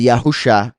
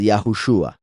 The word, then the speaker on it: Yahushua: más razones y eso nos muestra que la pronunciación no es yah husha es yahushua después está eh Génesis 38 cuando yahuda se